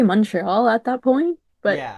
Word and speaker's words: Montreal: Mo al Montreal. Yeah. Wow. Okay. I haven't enrolled my RS in Spanish class in high school. So, you guys don't say the T.